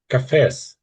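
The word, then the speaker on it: café: Uh, is the correct pronunciation cafes? It's like It's more cafe, cafe. Yeah, I know it's an E there, but this is the French sort of notation.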